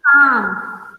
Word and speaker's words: calm: The Sultan cried, "Reclaim my master, and you shall Be calm. Be calm. be calm, बोलो. be calm, Be calm. be calm, बेटा L silent है. L का sound नहीं है.